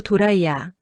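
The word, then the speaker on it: ドライヤー: 도라이야는 드라이어. 일본 발음으로 도라이야.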